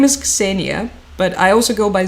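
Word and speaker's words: Ksenia: Yep, it's Cassenia. Exactly. Although in the western Ukrainian regions they call me because that's Ukrainian foria.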